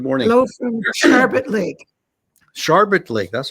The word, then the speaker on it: Sharbot Lake: Sharbot Lake. That's how you pronounce that.